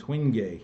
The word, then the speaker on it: Wenge: Dark one is Hoogie. It's spelled Wenge. W-E-N-G-E. And Hoogie is a wonderful wood.